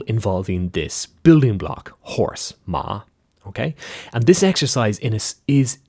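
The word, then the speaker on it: 妈: Now they don't necessarily understand this is pronounced ma.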